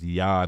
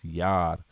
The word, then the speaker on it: Yad: it's the same thing it's just pronounce a little different it's Yad instead of yod it's Yad that's the Hebrew word for hand so we know that